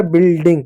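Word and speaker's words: building: Room B से वह बी से हुआ ब यू साइलेंट होगा। आई से छोटी इ की मात्रा एल से ल हो गया। डी से ड हो गया। फिर आई से छोटी इ की मात्रा। आई एन जी का ग हो जाएगा। हो जाएगा बिल्डिंग।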